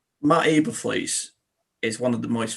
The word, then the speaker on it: Eberflus: I pronounced his name wrong. I do apologize. Is it Matt Eberflus? Eberflus.